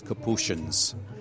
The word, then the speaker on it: Capuchin: Some places, especially in Europe, you'll go and they'll still refer to us as Capuchins. Here in the United States, of course, it's pronounced Capuchin.